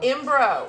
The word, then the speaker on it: Mbroh: this is and pronounce your last name bro that's it and it's spelled m-b-r-o-h correct but you can just call me ambro yes and